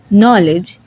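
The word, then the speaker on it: knowledge: Letter তখনই silent হয় যখন এর পরে এন থাকে। তখন কে সাইলেন্ট হয়ে যায় এবং এন প্রোনাউন্স করতে হয়। যেমন নলেজ নিউ নাইট নক আজকের আলোচনা এই পর্যন্তই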